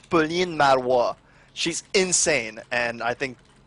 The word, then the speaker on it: Pauline Marois: Pauline Marois. Just sounds nuts. I know it does. All right, now say it very. Her last name sounds like Narwhal.